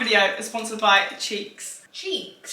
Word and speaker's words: Cheex: Cheeks. Cheeks. Like bum cheeks.